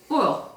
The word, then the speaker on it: oil: As in like royal without the R.